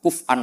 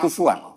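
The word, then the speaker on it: كفؤا: Harusnya qiraah masyhurah itu walam yakullahu kuf'an ahad bil hamzah. Dan rata-rata qiraah sab'ah bacanya qiraah sab'ah bacanya walam yakullahu kuf'an bukan kufuan. Tapi orang Quraisy itu yubaddilu nal hamzata wawan ba'da dhammi. Sehingga kufuan menjadi kufuan.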